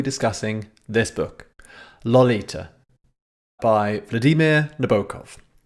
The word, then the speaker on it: Vladimir: He said that his first name, if it's pronounced correctly, should rhyme with the English word redeemer. So I do my best. Vladimir.